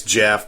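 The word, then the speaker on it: Geoff: a GI off Jeff it's Jeff but it's spelled g off I like I like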